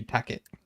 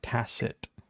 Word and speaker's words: Tackett: It should be Tackett. Yeah. Not Tacit. Tackett. Well, and Like, whoever told him how to say it correctly, I don't like you.